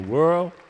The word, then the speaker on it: Worl: It's spelled W L, but it's pronounced like whirl.